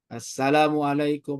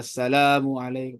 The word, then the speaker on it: Assalamualaikum: Assalamuah itu enggak ada enggak ada lamnya tuh. Enggak ada alifnya tuh. Assalamualaikum. Tapi kalau asalamualaikum itu ada lam cuma temponya cepat jadi agak kesaru gitu ya.